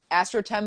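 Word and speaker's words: Astrotheme: the website also for the charts is astrotim but it's spelled like astro theme dot com for some frog it's all for all things french uh yeah lately yeah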